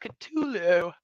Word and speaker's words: Cthulhu: I love you guys her it's like it's pronounced katulu Cthulhu all hail that word yeah we'll just do